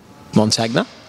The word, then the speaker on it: Montagna: a chillz how do you say your surname mon tagna okay there you go there's the answer for